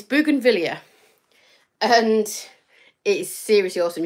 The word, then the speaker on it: Bougainvillea: But it's actually Bougainvillea. I've had some lessons in how to pronounce it. Thanks, Jackie. And it's Bougainvillea.